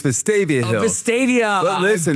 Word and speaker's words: Vestavia Hills: It's Vestavia Hills.